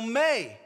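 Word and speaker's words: μή: the Greek negative particle may spelled m-e but pronounced May whenever that particle that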